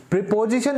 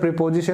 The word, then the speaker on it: preposition: आज का हमारा यही topic है तो देखिए preposition इसको हम नहीं बोलेंगे हालांकि बचपन से आप सुनते आए हो तो हो सकता है आप अब तक preposition बोल रहे हो लेकिन इसकी correct pronunciation है